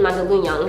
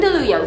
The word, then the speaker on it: Mandaluyong: 20th, I'm going to be DJing at Uno Lounge in Mandaluyong. So In where? Say it again. Mandaluyong.